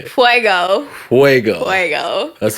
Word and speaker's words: fuego: point and yeah Fuego you're supposed to say fuego fuego fuego that's how you said well I